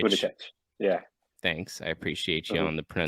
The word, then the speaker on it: Buttigieg: Yeah, Buttigieg. Buttigieg. Yeah. Thanks, I appreciate you Mhm. on the pronunciation fix there.